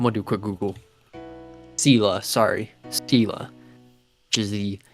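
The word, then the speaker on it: Selah: I think it's pronounced Saleya. Hold on. I'm gonna do a quick Google. Sela, sorry.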